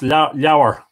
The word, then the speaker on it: Lebor: Catherine Purcell is saying it's Lower. Am I pronouncing it wrong? Lower. So don't be confused. Lebor, or it would be Lenited Lower.